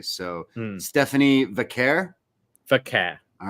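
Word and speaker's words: Vaquer: I'm going by the way Mike Rome pronounced it, so Vaqeur. I've heard different variations. I noticed Vic did as well. So I'm wondering, like we heard other people say it the other way.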